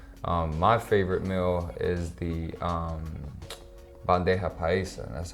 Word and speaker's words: bandeja paisa: My favorite meal is the bandeja paisa.